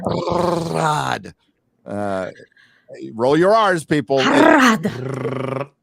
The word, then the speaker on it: Harad: Harad. Sounds smarter to roll your R's. Makes you sound more Tolkienian.